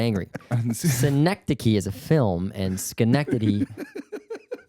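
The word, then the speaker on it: Schenectady: That's when she moved to Skencti. Mhm. Ski. I'm sorry. I don't want to harp on this. It's Skenctity.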